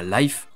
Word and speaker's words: LiFe: Il existe une troisième technologie qu'on prononce souvent à l'anglaise, la LiFe ou LiFePo pour lithium fer phosphate.